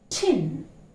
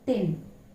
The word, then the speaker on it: tin: Tin, tin. It's not thin. It's not thin at all. It is tin.